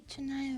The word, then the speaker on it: canai: Apparently, it's even though it's spelled Canai, roti. You would think canai, it's actually cha. Roti chunai or roti chunai.